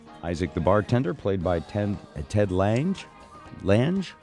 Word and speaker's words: Ted Lange: Good to be aboard, and yes, you said it right, Ted Lange.